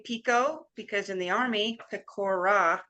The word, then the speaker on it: Pecora: My friends call me Pico because in the Army, Pecora was 3 syllables and it was too difficult.